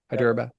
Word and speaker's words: Hyderabad: You grew up in Houston, Texas, son of immigrants from Hyderabad. Is that the proper pronunciation? Hyderabad. Yeah. Hyderabad.